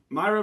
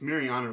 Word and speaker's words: Maryna: you look at it myra morose you have to watch her fight if you watch her fight against myra buenos silva and i keep saying her name wrong it's mariana remo morose but when you watch